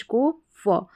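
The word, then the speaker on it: cough: लेकिन यहां पर हम सी को क पढ़ रहे हैं और ओ यू जी एच को फ। तो यह हो गया कफ।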